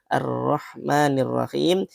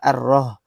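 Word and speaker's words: الرحمن الرحيم: Ar-Rahmanir-Rahim dibacanya lah ar-Roh. Ar-Roh, huruf H besar. Nah, itu salah, kurang tepat.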